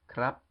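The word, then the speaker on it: ครับ: lady boy carrying the cactus combined together with a rolling lady boy CR followed by the A and the ubo making crap it has a skeptical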